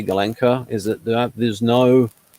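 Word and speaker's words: Gulenko: mean as i say golenka is that there there's no is it it's not a long o because a long o actually is a diphthong russian one but ukrainian much slightly different victor galanka's model g the situation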